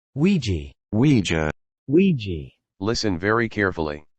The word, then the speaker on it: Ouija: For instance, he's in a later film, I can never pronounce Ouija. Is that right? Ouija. Ouija.